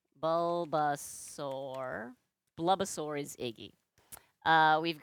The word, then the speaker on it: Bulbasaur: I said Bubbasaur. Bulbasaur.